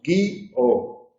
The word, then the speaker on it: guío: La primera persona del presente tiene dos sílabas, guío. La tercera persona del pretérito perfecto simple tiene una sola sílaba, guió.